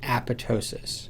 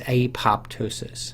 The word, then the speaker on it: apoptosis: Now the word is pronounced apoptosis. Apo, the prefix meaning apart, tosis means to droop or to fall.